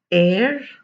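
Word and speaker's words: heir: listen to me again honor minus the h excuse me honor honest air herbal so these are the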